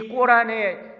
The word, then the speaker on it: 꼬란: 여러분, 이슬람 경전인 꼬란이라고 그러죠. 코란이라고 그러는데 꼬란이라고 하는 발음으로 요즘 많이 부릅니다. 이 이슬람 경전에 보면 마리아가 성령으로 잉태된 이야기가 나와요. 그런데 이 무슬림들은 이 꼬란의 절대적인 권위를 인정하기 때문에